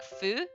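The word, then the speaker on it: ふ: one it should be who right however it's actually pronounced more like foo it's not really an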